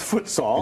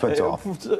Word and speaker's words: futsal: And futsal, for those who are like hearing this and saying, I think they're mispronouncing football. No, we're not. It's futsal. It's futsal.